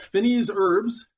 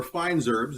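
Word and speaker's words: fines herbes: We got Finney's herbs, or Fine's herbs, depending on how you pronounce it.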